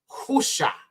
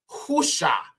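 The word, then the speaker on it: הושע: is Hosea in the English but this is pronounced husha husha now again when people say his name is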